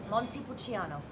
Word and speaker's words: Montepulciano: How's this pronounced? Montepulciano, the brewers. Montepulciano. Montepulciano.